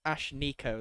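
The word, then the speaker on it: Ashnikko: like Gwen yeah she's got blue hair right Ash Nico it's spelled a-s-h-n-i-k-k-o yeah but it's it's Ash Nico that's how it's pronounced 27 years old who sings pop hip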